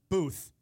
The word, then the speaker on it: booth: TH does not make an F sound.